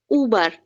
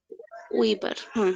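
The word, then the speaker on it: über: ওয়েস্টারাইশ, তারপর হচ্ছে উবার, উইবার, উবার, উইবার, এই যে উইবার, এটা ও নিবেন।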